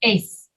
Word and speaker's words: eighth: the t right okay so instead of saying the t let go of the t and say eighth if say it again if yes you got it that's it that's how you pronounce that word faith say when we